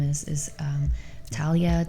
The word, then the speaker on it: Talia: name is is um Talia t a l i a maybe it's tiia but I Talia it's about talia's Journey